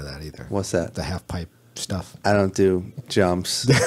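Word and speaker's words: halfpipe: I wasn't even pronouncing it right. I was pronouncing it half pike. Really? Yes, because I'm a moron. Yeah. Yeah, half pipe.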